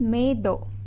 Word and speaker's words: मेद: द मेद धातु is written as मेद. We have to pronounce it as medo.